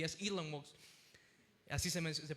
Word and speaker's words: Elon Musk: él me menciona, Elon Musk decía, y es Elon Musk, así se pronuncia el nombre.